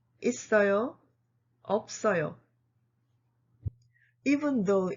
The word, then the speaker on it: 없어요: When two consonants in the final position meet a vowel, the first consonant remains and the second consonant moves to the next syllable.